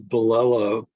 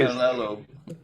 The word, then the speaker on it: Bilello: Yeah, the last name is Bilello. Yeah, you always. Bilello. I mispronounce everyone's. It's sort of last like name, Jello, except Bill in front of it.